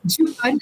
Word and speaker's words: Jup'On: marque qui s'appelle donc jupon tu l'as bien prononcé bravo jupon c'est ben alors Jup apostrophe on puisque là on n pas à l'écran et en fait c'est la jupe qu'on met par-dessus d'où le on euh voilà et alors